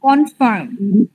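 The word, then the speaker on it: confirm: কনফার্ম, ফ উচ্চারণ করবে, ফলের ফা, কনফার্ম।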